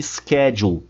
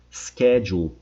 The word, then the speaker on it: schedule: E atenção pra pronúncia dela. Schedule. Schedule. Os britânicos falam assim: schedule. Schedule. Nossa, Ismael, é bem diferente qual que tá certa e qual que tá errada. As duas estão certas. Qual que se usa mais? Cada país utiliza a sua.